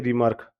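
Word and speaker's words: remark: रिमार्क, रिमार्क देखो ढंग से, ਆਪਾਂ वो बोलते हैं रिमार्क, यहाँ रिमार्क, कहीं कहीं भी आर आ रहा है क्या? आर साइलेंट है इसमें, ठीक है?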